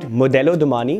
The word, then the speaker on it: Modello Domani: So as you can read, Modello Domani, which is the right pronunciation, is actually an Italian name, which basically breaks down into fashion, which is Modello, and Domani means tomorrow.